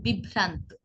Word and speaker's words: বিভ্রান্ত: একইভাবে বিভ্রান্ত, বিভ্রান্ত, আমরা কিন্তু বিভ্রান্ত বলছি না, একবার উচ্চারণ করলে উচ্চারণটি হতো বিভ্রান্ত, কিন্তু আমরা উচ্চারণ করছি বিভ্রান্ত। দেখুন ভ দুইবার আসছে, বিভ্রান্ত, বিভ্রান্ত।